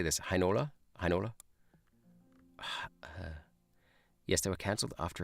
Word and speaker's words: Heinola: EI is pronounced I. Interesting. Hi. Hi. Heinola. Yeah, okay, so that's the same as German.